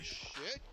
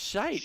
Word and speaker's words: shite: are you mispronouncing shit? Because we all know what that is. Like, No, don't you know how to say it's- the word shit? No, it's shite, and it's not a bad word in American.